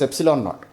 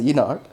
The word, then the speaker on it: epsilon naught: So C is equals to, this I should be pronouncing as epsilon naught, but I have a problem of pronouncing this one as E naught.